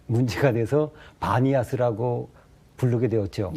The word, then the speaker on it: 바니아스: 그래서 이제 그 판신을 섬겼다 그래가지고 파니아스인데 이제 발음이 문제가 돼서 바니아스라고 부르게 되었죠.